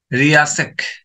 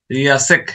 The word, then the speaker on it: RIASEC: শব্দগুলো মনে রাখবেন, RIA, রিয়াসেক, রিয়াসেক, এরকম ধরনের উচ্চারণ।